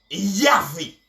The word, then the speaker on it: Yahvé: Kaal et Yahvé, toujours le grec, et qui signifie assemblée de Dieu, peuple de Dieu.